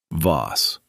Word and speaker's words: Voss: Pronunciations. Nephilim. En FF lim. Custodes silenti. Custodes silenti. Paracus. Paracus. Voss.